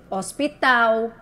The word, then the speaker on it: hospital: hélice herdeiro e Harpa todo de todas essas palavrinhas a gente não escutou nenhum sonzinho no H escuta só o som da vogal a e i o u certo o fonema é só o sonzinho da vogal a e o emprego